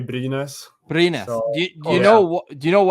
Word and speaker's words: Brynäs: The hometown team, and excuse my pronunciation, is it Byrnes? Yeah, that's the team. Yeah, exactly. That we say Brynäs.